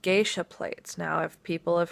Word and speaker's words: geisha: the girls that the GIS came back calling gisha girls are the prostitutes true geisha geisha is how you pronounce it geisha are the highest class of